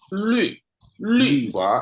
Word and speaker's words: 律: Nah, Pak Antoni, ini lui bacanya. Lui. Ini ada 2 titik. Iya, iya. Atas u ini mulutnya u, tapi keluarnya i. Ini Chongwon hebat ya. Mulutnya u, lu, tapi bacanya harus i. Lu fa. Ini ya, lu fa. Tapi kita orang Indonesia dengarannya kayak i.